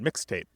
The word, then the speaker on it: mixtape: It sounds like one word, mixtape, right? That stress on that first syllable, mixtape.